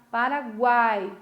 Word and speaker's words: Paraguai: Paraguai. Olha como o A é forte, o U quase não se escuta.